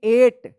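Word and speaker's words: eight: इसको पढ़ेंगे एट। क्या पढ़ेंगे इसको? एट पढ़ेंगे। एट। इसको इट मत पढ़िएगा। यहां पे देखिए इ आई का यहां पे ए उच्चारण हो रहा है।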